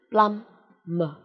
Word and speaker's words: plumber: Plumber, không có B nhé.